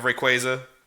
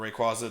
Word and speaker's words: Rayquaza: to say you have por he you have Rayquaza or Rayquaza depending on how you say it and taboo